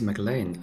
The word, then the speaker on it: McLean: all start calling him mclean because that's how you pronounce his name so it actually is mclean as in the guy from die hard john mcclane i didn't say that